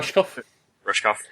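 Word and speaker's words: Rushkoff: the is that I don't know how to pronounce the last name. Rushkov.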